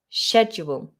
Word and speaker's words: schedule: And so those are the 3 items on my schedule. Now, there are 2 ways to pronounce this. You can do the American version, which is more of a K sound.